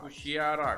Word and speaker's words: Kushiara: खुशियारा खुशियारा खुशियारा, बंगाली में और हमारे में फर्क है ना बोलने में। हम इसको कुशियारा प्रोनाउंस करेंगे, कुशियारा। ओ, देखो यार, जबरदस्त है यार ये तो फुल लग्जूरियस लग रहा है।